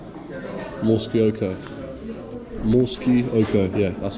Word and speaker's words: Morskie Oko: Morskie Oko, yeah, that's how you say it.